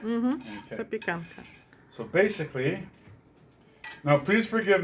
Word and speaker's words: Zapiekanka: And awesome street food in Poland is called Zapiekanka. Am I saying it right? Mm-hmm. Okay. Zapiekanka.